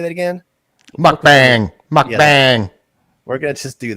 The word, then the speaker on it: mukbang: Mukbang, mukbang.